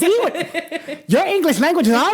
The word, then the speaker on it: Ewan McGregor: Yeah, Ewan. Ewan. I'm telling you how it's pronounced.